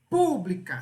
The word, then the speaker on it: pública: é uma palavra paroxítona agora pública se a palavra tiver acentuada a sílaba mais forte é onde tá o acento É onde está o acento ali ó pu pública não é o k que é a última não pode ser oxítona não é o o